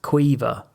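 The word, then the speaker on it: Caoimhe: But it was spelt something like C-I-A-H... No, C-I-A-M-O-H-E, I think. And that's Queever. It's like an Irish thing, right?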